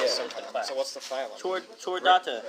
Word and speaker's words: Chordata: Chordata. It's a mammal. Chordata? It is a CH, How did you get motherfucker. That's Yeah, not it's ch. pronounced cool. CH is pronounced like a K.